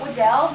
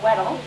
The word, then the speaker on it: Weddell: I call it Weddell, some people say Weddell. Both correct pronunciations are acceptable.